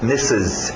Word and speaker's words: Mrs: toma cuidado com abreviação tá escrito Mr RS mas não tem nenhum R na pronúncia E você vai querer dizer Mister M algum R não tem R cuidado com a sua pronúncia misses misses Ok misses então